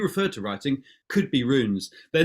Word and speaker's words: runes: it said are they um now is this it's spelled r-u-n-e-s runes runes what are rooms well you know